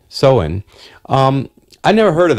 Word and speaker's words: Samhain: date back to ancient Celtic festivals known as saman saman saman um it's pronounced actually soin soen um I never heard of that word before